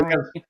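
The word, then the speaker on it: Poilievre: I don't think there's even an R sound at the end of it.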